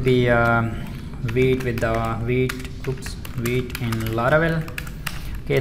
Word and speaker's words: Vite: wheat wheat in laravel some developers are pronouncing this is a white but this is actually a wheat not white okay it's going to